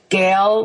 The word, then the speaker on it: Gale: But if you Google my name, which is Gail, like it's spelled like the the big storm wind, G A L E Zer, then you